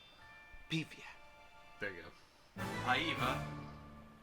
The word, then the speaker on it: Paiva: Julie Adams, Richard Denning, Antonio Moreno, Nestor Paiva, Beefy. There you go. Paiva, if we're pronouncing it in the Spanish way. Paiva!